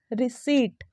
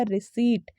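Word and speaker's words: receipt: हैं ना उसमें से 50% लोग से रिसेट करते होंगे क्या बोलते हैं इसका गलत है उच्चारण कर रहे हैं इसका जो करेक्ट प्रनंसीएशन होगा वो होगा रिसिप्ट तो आर ए सी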